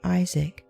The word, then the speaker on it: Isaac: thy seed be called we say isaac but the hebrew accents the last syllable perhaps this is why